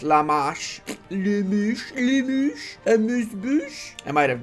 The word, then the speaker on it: La Marche: I guess it's time to march towards La March. I know it's pronounced La Marche.